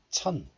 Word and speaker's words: 첫: So the sound of 시옷 becomes 니은 and 첫 becomes 천 like this.